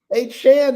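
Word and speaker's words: Achane: Now, the whole time he was in College Station, people got it wrong. I mean, it's spelled A C H A N E. Looks like paint.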